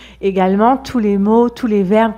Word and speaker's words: tous: peut aussi être prononcé tout on prononce tous avec un S quand c'est un pronom par exemple dans la